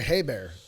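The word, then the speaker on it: Hebert: It's like Hey Bear.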